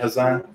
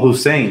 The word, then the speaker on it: Hussein: I appreciate it, Hassan. Oh, Hussein. My bad, bro. I said your name wrong.